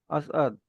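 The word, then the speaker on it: اسعد: एन का बताया कि एन अगर आ रहा है ऊपर ज़बर है तब उसको प्रोनाउंस करोगे प्रॉपर असद वो अ वाली साउंड आएगी ओके कई बारी हम छोड़ देते हैं वो साथ में चली जाती है असद असद वो असद वाली मतलब स के बाद स को पूरा पढ़ लिया फिर उसके बाद एन वाला जो अ है वो पढ़ना है फिर उसके बाद द असद म्यूट कर ओके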